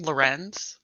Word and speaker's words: Loren: Uh, so I've always wondered, how do you say your last name? Oh, my last name. Loren. Loren. Okay. Yeah. Yeah, that's how I say it at least.